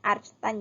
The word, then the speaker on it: arctan: Ini bacanya arcstan ya.